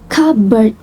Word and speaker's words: cupboard: For other example, the word cupboard is pronounced without the P sound, cupboard, even though it is written.